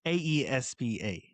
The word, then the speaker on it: aespa: It's Aespa. I'm Is pronouncing Aespa.